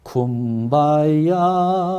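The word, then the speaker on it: Kumbaya: 그런데 이 노예들이 여기 붙잡혀 와서 영어를 제대로 할 수가 없었던 겁니다. 그러니까 이 사람들이 발음을 제대로 하지 못한 채 쿰바야 말로 한 거예요.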